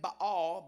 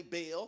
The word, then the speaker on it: Baal: get to it um many theologian they said you pronounce the name by all b-a-a-l by all but i say bail so i'm gonna bail out on by all and say bail can i tell you